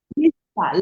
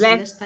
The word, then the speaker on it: Leicester: Finance from the University of how do you pronounce that one? Leicester, Leicester, yes, Leicester, Leicester.